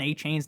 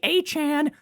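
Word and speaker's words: Achane: People say I I pronounce Devon Achain's name wrong. Nick, it's actually a Chan.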